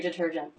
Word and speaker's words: detergent: We have laundry detergent. Laundry detergent. Detergent. First T, a true T because it begins a stressed syllable.